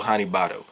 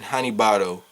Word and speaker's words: Hanebado: right off the rip, the BAD in Hanebado is not for bad show. I've seen that way too many times, and that literally has to be a retarded argument. B-A-Ba-D-O, do. It's a pronunciation thing.